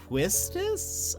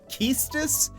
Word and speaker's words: Quistis: Quistis is how I said her name. Keistis is how some people say her name.